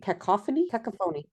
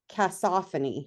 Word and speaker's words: cacophony: So I always thought that word was pronounced cacophony. Cacophony? And it wasn't until I did my first audiobook and I was listening to the files and I'm like, what? They said it wrong.